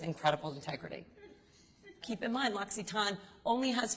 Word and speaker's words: L'Occitane: So, the L'Occitane family, I'll tell you a little bit about them if you don't know, and the way you pronounce it is L'Occitane.